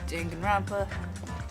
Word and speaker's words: Danganronpa: Danganronpa. Oh no, I said it right that time.